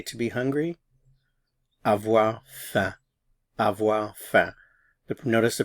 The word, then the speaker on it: avoir faim: And this sound here, this symbol in the IPA represents the E sound in red in English, so eh.